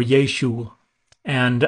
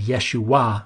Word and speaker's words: Yeshua: uh the Ein but the data don't indicate that the furtive Pata we're used to hearing on the end Yeshua was pronounced in the first century that probably wasn't pronounced until centuries later when the iron was